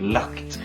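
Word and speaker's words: lagt: there is where hard locked is written with an l-a-g-t right what is pronounced more with the K instead of the G that's calm you'll see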